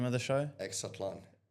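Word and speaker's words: Exatlon: Exatlan. How? Exatlan.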